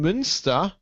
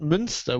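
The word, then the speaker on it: Münster: turin got me wrong i wasn't talking about munster with umlaut i was talking about munster which is spelled as the monster in ireland but it's months monster and lower saxony which uh i'll i'll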